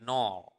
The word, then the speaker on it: nol: The other way of saying 0 would be nol. Okay. Nol. Nol. Okay. Kosong. You are now maybe curious, in terms of usage, how do you differentiate between kosong and nol?